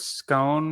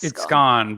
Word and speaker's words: scone: I say the word scone wrong, and you do. Yes, it's scone, but I'm like, but it's spelled like bone or phone. But it's also spelled like gone. Right. It's also spelled like one.